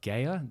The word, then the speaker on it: Gaia: - I think it's actually funny you say about purpose, because I've just watched, yesterday in fact, on, I want to pronounce it right, Gaia, G-A-I-A, and it was all around finding your purpose and it gave you the whole hero story circle.